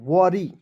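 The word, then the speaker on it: worry: वाई वरी ठीक है डब्लू O double R वाई ओ है दोस्तों उसका उचार ओ के रूप में आर का र दोस्तों अंतिम में वाई इसके लिए बड़ी की मात्रा का प्रयोग करेंगे क्या हो जाएगा वरी वरी मीस क्या होता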